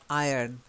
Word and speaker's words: iron: silent in this case it's a silent our iron iron iron iron iron like a lion in Zion hey April hey I